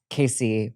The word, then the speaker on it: Kasey: My name is Casey, pronounced K k a s e y k e i.